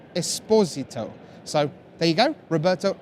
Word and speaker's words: Esposito: this next player correctly it's not Esposito it's Esposito so there you go